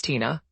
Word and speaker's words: Tina: plate and ask me how do you pronounce that it's Tina I have tried politely